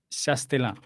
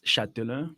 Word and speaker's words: Chastellain: Es Chastelin. ¿Lo pronuncié bien? Sí, solo le agregaré que, bueno, es más Chatelain, porque Chastelin, la d'accord. S, lo comimos la S, Muy entonces queda bien, como Chatelain.